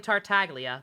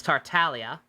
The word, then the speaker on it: Tartaglia: I was pronouncing Tartaglia wrong this entire time. I was calling him Tartaglia. The G is apparently silent. It's Tartaglia. Hey, Pump, who posted angsty Bakugo on your Twitter?